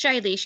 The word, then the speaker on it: Shailesh: And is it Shailesh? I'm not sure how to say your name. I'm sure it's lovely and I just butchered it and I apologize very much. Yes, it's Shailesh. You said it correctly.